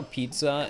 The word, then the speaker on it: pizza: Chat, do you ever think about how pizza is pronounced pizza? Like there's a T, like a slight like T sound in there, pizza.